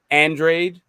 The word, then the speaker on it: Andrade: There's a reason why that the guy's name is actually pronounced Andrade, but none of us know that.